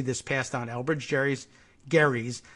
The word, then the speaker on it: Gerry: passed on Elbridge Gerry Garry's surname was pronounced with a hard G but gerrymander is pronounced with either a hard or soft G so I guess we